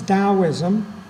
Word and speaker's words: Taoism: one of them is taoism spelled with a t but pronounced with a d and right away if